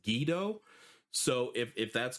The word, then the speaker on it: Guido: I was I was calling him Guido. That's the only way that I've ever heard it pronounced and someone in the comments mentioned that it's actually pronounced Gido.